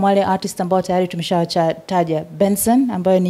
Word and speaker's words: BNXN: Na aside from wale artists ambao tayari tumeshawataja, Benson ambayo ni hiyo BNXN inatamkwa Benson ambaye yes, zamani alikuwa anajulikana kama Buju.